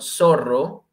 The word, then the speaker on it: zorro: El ratón, el zorro, doble R, ojo con esta pronunciación, zorro.